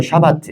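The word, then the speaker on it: שבת: 히브리어로 샤바트 이렇게 발음하고 있습니다.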